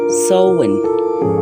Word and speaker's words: Samhain: Por otro lado, los celtas festejaban al dios Samaín, dios de la muerte, que por cierto se pronuncia Samhain.